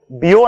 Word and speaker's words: Biot: is a dimensionless quantity it's called the bio number it's written as biot it's spelled as biot it's called the bio